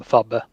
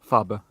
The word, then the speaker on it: Fabe: I call him Fabbe, Fabe. Okay. but you do pronounce the E on the end. Oh yeah, you do it a bit like softer.